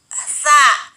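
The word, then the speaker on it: ث: Terus di sini ada huruf sa. Sa itu bacanya ujung lidah dirapatkan dengan gigi atas.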